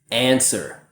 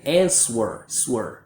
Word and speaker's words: answer: A lot of students will say answer, but a native speaker just says answer, dad.